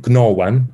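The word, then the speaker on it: gnagan: So it would have been gnawan in old English because the G would have been pronounced.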